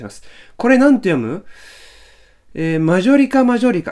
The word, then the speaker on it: マジョリカマジョリカ: せるお願いしますこれなんて読むマジョリカマジョリカ 9 常識だはこんなもね今なおいあのマジョリカなマジョリカマジョリカ a 家上だなあぶね